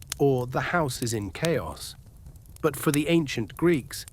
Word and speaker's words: chaos: Chaos. Feel this word on your tongue. Chaos. In ancient Greek, it is written house and pronounced chaos. Today it has come into